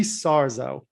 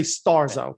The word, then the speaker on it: Sarzo: the most was rudy sarzo and when i had him on my show about 18 months ago you say starzo i put a t in and my buddy vincent